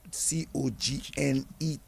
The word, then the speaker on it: Cognet: Some people spell it Cognette. That's how it came down to Dominica, but when they reach in the English country, they drop the TE and say Cognet.